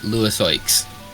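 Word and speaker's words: Louisoix: It's clearly Louis Oix. Louis Oix, yeah, I agree. They're pronouncing it in the wrong language, that's the problem.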